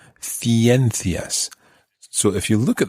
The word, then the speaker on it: ciencias: So if you look at the word, or if you imagine the word, ciencias, that would be spelled C-I-E-N-C-I-A-S. Ciencias. Ciencias would be sciences. In Latin America, it would be pronounced ciencias.